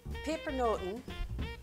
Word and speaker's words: pepernoten: and look like nuts paper notes is how you say it in dutch roughly translated pepper